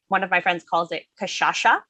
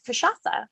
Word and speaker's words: Cachaça: One of my friends calls it Cachaça. Mm-hmm. My mom says Cachaça, but it's Cachaça. And we don't care how you pronounce it as long as you drink it.